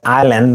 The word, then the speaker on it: island: the king in an island and this pronunciation of this word is Island not is land so Island and there